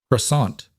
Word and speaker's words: croissant: Croissant. She said. But I think I say it wrong. You say it exactly like the French do, Emma told her. Which is very different from how Americans say it.